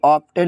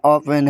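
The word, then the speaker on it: often: जैसे ओपेन ऑफन यह ऑप्टेन नहीं है। ऑफेन है।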